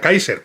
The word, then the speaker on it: Kaiser: nombre es Kaiser, pero se pronuncia Kaiser, como la palabra Kaiser.